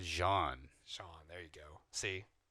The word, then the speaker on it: Jean: It's not even John. I said Jean.